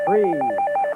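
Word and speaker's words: frieze: The facade f a c a d e and rhymes with please. Belair sua. F r i e z. Freeze.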